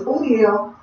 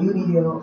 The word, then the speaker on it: Udiel: So it's Udiel, not UDL, not Udiel, but Udiel.